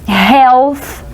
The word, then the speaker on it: health: Health, a gente tem que tomar muito cuidado com a pronúncia dessa palavra. É o som do TH, do TH em inglês.